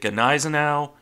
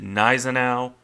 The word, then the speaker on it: Gneisenau: the regularly mispronounced name is it Gau is it naau or is it nen na it really depends on which German you're asking and that's before you